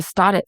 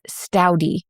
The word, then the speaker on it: Staudte: it's the stouty family if you clicked on the show today and you thought it was the stod it family no it's stouty this how you say